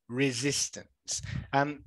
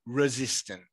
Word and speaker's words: resistance: Okay, so it's not the long E, it's not an E sound at all. It is an I sound. Okay, ri, resistance.